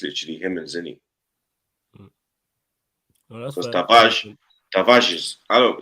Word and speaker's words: Tavares: Yeah, because how you pronounce it in Portuguese is Tavares. Oh, is it? See. Yeah. Oh, okay. Also, I didn't know that. Yeah, Nun Tavares.